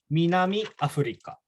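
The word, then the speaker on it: 南アフリカ: So everyone say Minami Africa.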